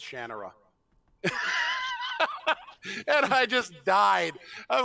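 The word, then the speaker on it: Shannara: listen if people can figure out how to pronounce shinara they're going to be able to figure out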